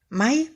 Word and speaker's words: my: наприклад слово має що означає мій моя моє Май Мама Май Мам Моя матуся Майдан мій татусь має Чад